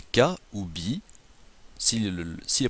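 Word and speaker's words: 火: Et le deuxième peut être prononcé ka ou bi. S'il est prononcé bi, il s'agit du feu.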